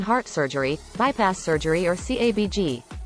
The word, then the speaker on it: CABG: surgery bypass surgery or cabg the acronym is pronounced the same as cabbage cabg involves using a blood